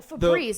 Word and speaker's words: Febreze: See, How do you spell Febreze? Febreze. Yeah. People think it's easy. I get that. yeah. Well, Febreze, it's the- like the breeze.